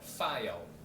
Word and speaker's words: file: 그것도 F 발음이거든요. 그래서 file, file 이렇게 돼요.